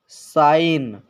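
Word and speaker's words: sign: जी साइलेंट रहता है अगर एन से पहले जी आता है तो फ्रेंड्स ये जी साइलेंट रहेगा एन से पहले जी आता है तो जी साइलेंट रहेगा जैसे नेट नेट साइन नेट साइन रिजाइन डिजाइन इन सभी में आप देख सकते हैं फ्रेंड्स एन से पहले जी आया है तो जी साइलेंट है और जब किसी वर्ड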